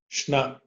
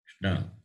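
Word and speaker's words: श्न: Shna. Shna. Like in the word Krishna.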